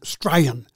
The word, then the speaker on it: Strayan: It's called Strayan. Strayan, as in I'm Australian.